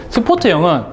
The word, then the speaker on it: 스포트: 그래서 넓은 범위를 감지해주는 녀석이라고 생각해 주시면 되고, 스포트형은 전에도 말씀드렸었죠. 스팟, 영어식인데 그냥 스포트 이렇게 읽는 거예요. 일본식 발음으로 와가지고. 스팟, 점, 국소적인 곳에 감지기를 감지하는 거예요.